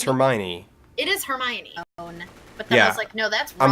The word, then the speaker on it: Hermione: yeah that is right but in my head I was thinking it was her Mayan her my any it's Hermione so like no no it's Hermione it is Hermione yeah